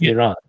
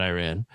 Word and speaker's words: Iran: If we want to be active sponsor of terrorism, you know, it's not Iran.